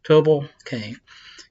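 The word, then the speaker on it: Tubal-cain: Oh, actually, separate it, tell you how to pronounce it. That's nice. Tubal Cain.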